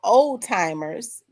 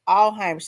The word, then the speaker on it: Alzheimer's: was talking and I said all um all oldtimers. We was talk and then the nurse said what did you say? I said the person has oldtimers and she said Alzheimer's.